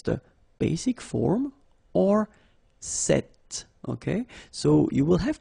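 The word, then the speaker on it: cette: is set like that so it's quite interesting because if you listen carefully the masculine form here set and The Feminine form here set you write them differently but then you pronounce them the same way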